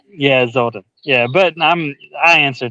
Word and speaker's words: Zoldan: Yeah, it's uh So, it's it's pronounced Zolden. It's Yeah, Zolden.